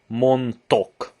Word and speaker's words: mondtok: Oh yeah, that's quite interesting because T and D, although they go together very well, they go together so well that you actually don't even really have to pronounce the D. So it's just like mondtok valamit.